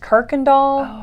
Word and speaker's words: Kirkendall: um as a mentor did i say his name wrong just a little bit oh no but you know what you correct me because i want to get it right it's it's said kirk and doll okay with an r